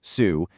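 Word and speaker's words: 羞: First, we have shu, pronounced sue.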